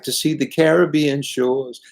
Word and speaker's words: Caribbean: the caribbean you know i say the caribbean because that's how we pronounce it in england i don't say caribbean korea but then i think